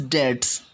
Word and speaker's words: debts: The pronunciation of debts is debts. B remains silent here.